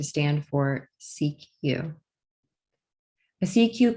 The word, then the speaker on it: CQ: as a cq call when pronounced in french the official language for international telecommunications cq sounds like the first two syllables of security used to mean pay